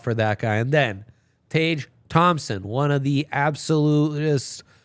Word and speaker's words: Tage: It's like range with a T. Tage.